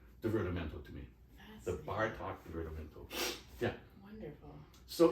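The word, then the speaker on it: Bartók: hmm actually I hear Bartok interesting a lot more a lot more the second movement has that Hungarian first syllable accent it's something and the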